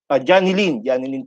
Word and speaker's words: Johnny Lynn: Now, para po sa mga ITO and regional ITO na nanonood po ngayon, Ma'am Johnny Line said, pwede po natin na Johnny Lynn pala po ang bigkas daw ng kanyang name. Ang tulad po ng magiging